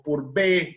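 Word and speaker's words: Pourbaix: Y en particular hay unos diagramas que lo inventó, que los diseñó, que los comenzó el señor Purbaix o Purbe, como otros pronuncian, que relacionan, ¿no?, el potencial de óxido versus el pH.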